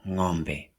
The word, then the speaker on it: ng'ombe: The next one is pronounced a bit different, is ng. Ng. Because of that apostrophe you can see up there. Ng. Ng is used like in ng'ombe, ng'ombe, ng'ombe.